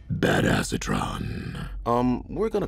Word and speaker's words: Badassatron: right now is um bad asatron which is actually pronounced bad acetron um we're going to